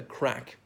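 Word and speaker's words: craic: people are not Irish will know crack spelt CRA I see I'm usually not spelling these words but not the usual spelling of crack meaning fun and many Irish pubs will offer crack harvest kill fun and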